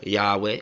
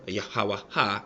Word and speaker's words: Yahweh: that I believe that IA yahu or Yahweh or yahaha which would be the most paleo pronunciation has shared with me